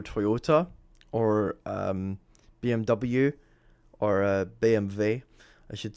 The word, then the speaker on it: BMW: If I say BMV, they're like, "What the is that? What's that?" You know, that's the German way to pronounce it. That's how you pronounce it. BMV. That's how you pronounce BMW.